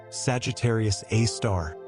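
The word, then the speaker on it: Sagittarius A*: The one at the center of our galaxy is called Sagittarius Asterisk, pronounced Sagittarius A star, and it's about 4 million times the mass of the sun.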